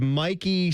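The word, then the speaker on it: Michie: there in the fall, Google some pictures of Mikey Stadium. I believe it's spelled M I C H I E, but it is a lovely spot.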